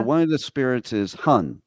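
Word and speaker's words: 魂: Okay, so one of the spirits is Hun, right?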